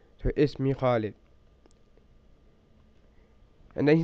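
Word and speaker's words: اسم: And this alif in the word ism is not an alif that's pronounced unless you are starting speech from that letter.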